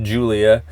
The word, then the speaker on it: Gulia: Spelled with a G, pronounced Julia.